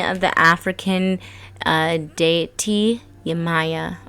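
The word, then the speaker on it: Yemayá: the african uh deity yamaya or yamiya pretty sure i said it right the first time yamaya in fact that might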